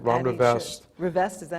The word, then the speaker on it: Rivest: Rivest, is that how you say his name?